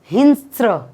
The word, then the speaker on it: हिंस्र: एक तो हिंस्र पशु, यहाँ पे उसको प्रोनाउंसिएशन होता है हिंस्र, हिंस्र पशु मतलब अ वाइल्ड एनिमल, और मलेरिया, सतत सामना करावा लागला।